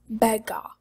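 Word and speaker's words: በጋ: So fall is belg, and summer is bega.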